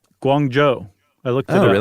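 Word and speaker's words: Guangzhou: Guang Joe.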